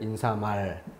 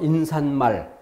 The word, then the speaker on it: 인사말: 그런 것처럼 머리말, 인사말. 니은을 넣는다면 머린말, 니은을 넣어서 인산말. 얼뜻 들어보면 그렇게 발음하는 게 맞지 않나? 라고 생각할 수 있어요.